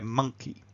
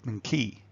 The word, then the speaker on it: monkey: And when we hear 'monkey' we know that that first syllable is kind of big and round and strong. The second syllable is quite weak. If we turned it round, if we unstressed the first syllable and stressed the second, well then the word itself becomes really hard to understand, So if I said: